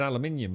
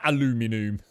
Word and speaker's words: aluminium: Aluminium. It was never aluminum.